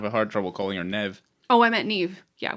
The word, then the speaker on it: Neve: right you're wrong oh is it Nev rhymes with Bev oh that's what it